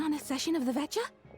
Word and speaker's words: Veta: Time to get ready, then head to the Sneesrad Veta." Veta. Okay, I mispronounced it horribly when I said it. Betcha.